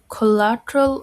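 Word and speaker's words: collateral: Zaman কোলারেল of loan মাত্র Google করে বার করলাম কোলাটল অফ লোন তোমরাও দেখতে পারো কোলাটল উচ্চারণ কোলাটল কোলাটল অফ এটার বাংলা হল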